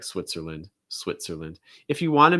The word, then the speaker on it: Switzerland: you can't say that a lot of times you'll hear people pronounce it unvoiced or voiceless switzer switzer and then the lynn part again is like england or ireland it's going to get reduced okay so like switzerland